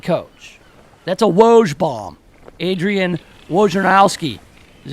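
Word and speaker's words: Adrian Wojnarowski: team's next head coach that's a woge bomb Adrian Warren house key is how you say his name of ESPN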